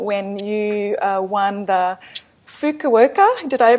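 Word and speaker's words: Fukuoka: believe in 1981 when you uh won the fuka worka did I pronounce that right yep you got that Japanese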